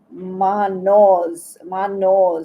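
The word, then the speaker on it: Mannaz: Manos is the way it's pronounced actually.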